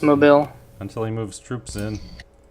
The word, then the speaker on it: Mobile: Yeah, It's pronounced mobile.